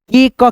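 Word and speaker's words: cake: ना जैसे यहां पे सी ए के ई इसको क्या पढ़ेंगे के का केक है ना ऐसे करके जैसे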